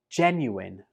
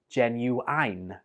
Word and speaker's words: genuine: Genuine. I hear some students pronounce this like genuine, but the last syllable in this word is pronounced in, not ein.